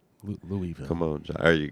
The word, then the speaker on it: Louisville: where are we the louiseville slugger the bat comes from that louisville you gotta leave the s the s is silent louisville come on john there